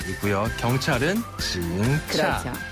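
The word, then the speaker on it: 警察: 중국어로 경찰은 한자 그대로 옮겨 써서 차라고 해요 징차 한번 더 징차 징차네 경찰은 차라고 발음을 하고요 그리고 우리가 신고를 할 때 흔히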